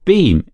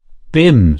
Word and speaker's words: Bim: Manning cross eyebrows Rose your beam is that how you pronounce it Bim said the other b-i-m Christian name Cherry Cherry